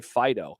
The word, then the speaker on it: Fido: heard people who have described their dogs as fido not fido what's a fedo that's not how it's pronounced say it right people well maybe an italian it was fido maybe it was a good point because we anglicized that it's fighting it's fido now there you go you